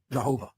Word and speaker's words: Yahweh: yod V that comes transliterates in English as yhvh which we pronounce Yahweh or Jehovah yahovah okay and this